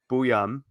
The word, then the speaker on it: Buium: What's the correct pronunciation on Zeev Buium? Buium. It is Buium.